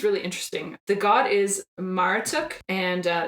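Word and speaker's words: Marduk: and this one's really interesting the God is maratuk and uh it's either spelled m-a-r-d-u-k- or m-a-r -u-t-u-k am I pronouncing it wrong no we just haven't no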